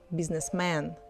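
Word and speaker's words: бизнесмен: It's written with men, but we pronounce it businessman.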